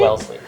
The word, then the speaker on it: Wellesley: Wellesley.